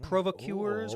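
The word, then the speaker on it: provocateurs: with the Nazis and these were ancient provocuers provocuers whatever that's called yeah yeah you said it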